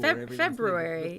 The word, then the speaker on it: February: not my first language when I read it it's Fe or Brew February yeah the r is there and I'm like [